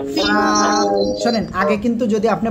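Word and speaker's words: فاء: দাঁতের আগায় লাগাবেন লাগিয়ে হালকা বাতাস বের করবেন উচ্চারণ করবেন ফা সবাই একসাথে জোরে জোরে বলেন ফা শোনেন আগে কিন্তু যদি আপনি বাতাস বের না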